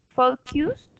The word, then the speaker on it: focused: If only they uh, focused focused their protest on their ideals.